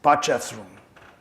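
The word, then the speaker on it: Potchefstroom: was part jeff's room i took like a week so i could pronounce the name i can say it easily pachaf's room that's the name of the play you know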